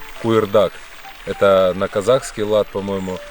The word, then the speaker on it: куырдак: Ну, он у всех произносится по-разному. У нас, например, на гайцев произносится как куырдак. А так у вас тоже есть такое блюдо? Да, то есть буква К с твердым знаком произносится.